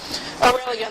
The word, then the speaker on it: Aurelian: I'm the base player for the band aelan aurelion that's how you say it yes or I